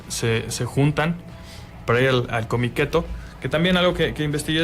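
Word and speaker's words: Comiket: llama cómic eto bueno se escribe con michetti por lo que entiendo que se pronuncia cómic eto y se inaugure 1.175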